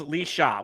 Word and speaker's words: Laoise: Yes, but it says, but Laoise equals Lee Shaw, which how the hell does Laoise pronounce Lee Shaw?